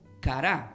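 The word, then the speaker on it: קָרָא: de primera de crónicas la palabra invocó del hebreo se pronuncia como cará o sea ustedes describan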